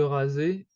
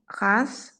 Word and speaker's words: rase: you have to keep in mind that most of the time, the S, when it is a single S, would pronounce the Z sound.